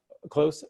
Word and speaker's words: Kloos: I don't know if everybody even knows his name, Kloos. I hope I'm pronouncing his last name right. Close. Sorry. Okay, good. Thank you for correcting me. It was a double O.